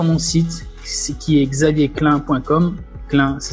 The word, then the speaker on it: Clain: Clin, ça s'écrit C-L-A-I-N, et tu pourras relever mon challenge.